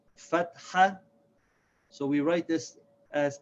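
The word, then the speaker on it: فَتْحَة: name one is called fat hat so we write this as FA T - H a because want to make sure we don't pronounce the T and H together it's not fat it's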